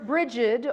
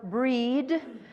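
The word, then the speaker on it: Brigid: and today we honor bridgid or breed depending on how you say it there are various ways to say her name she's the triple goddess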